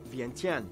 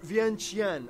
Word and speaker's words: Vientiane: which includes the capital VN 10 or VN GN I've heard Lao people pronounce it both ways I don't know exactly which one is correct I'm more inclined to say vientiane though because I don't trust that tea but whatever Chantry looks